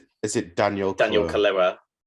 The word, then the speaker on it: Kaluuya: I butchered it. Apologies. It's incorrect, Ben. Shit. Is it Daniel Daniel Kaluuya? Kaluuya. It's not Daniel Kaluuya.